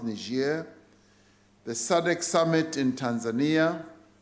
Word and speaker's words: Niger: And these are the G20 in Japan, the African Union Extraordinary Summit in Niger, as it's pronounced, Niger, the SADC Summit in Tanzania, the Tokyo International Conference on Africa's Development in Japan, Russia-Africa Summit in Sochi in Russia.